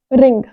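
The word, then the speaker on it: wring: लिए इंग्लिश आती है रिंग डब्लू यहां साइलेंट रहेगा रिंग लेकिन उसके साथ क्या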